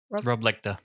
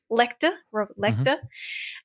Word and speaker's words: Lecht: Rob Lecht, how do you say their name, Tom? Rob Lecter. Rob Lecter.